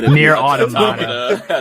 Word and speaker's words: Nier Automata: There was I don't know how to pronounce this damn game. I think it's Nier Automata. That's right. Autopatopia. Nier Automata.